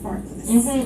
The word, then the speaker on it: Glenfarclas: Anyways, today's Scotch is Glenfarclas, right? Yes. Did I say that right? Glenfarclas. Glenfarclas.